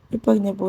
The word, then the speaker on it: impregnable: Impregnable is stressed on the ABE. That's PRE. That's where the stress is. Then impregnable is stressed on PRE.